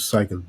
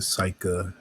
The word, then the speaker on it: Psyche: My name is Psycha. You know, break that down. Um, Psyche, I pronounce it Psycha when I fully, say the name though.